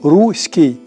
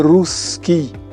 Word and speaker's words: русский: та фразеологізмах зокрема коли кажуть руський мир при тому руський як і корабель із м'яким знаком вимовляють А треба казати русський так як вимовляють вони назву Русі вже навряд чи